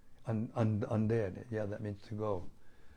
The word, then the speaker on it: andare: I don't know how to pronounce it, but it's spelled Mangiare. Mangiare. Mangiare. And? Andere. Andare.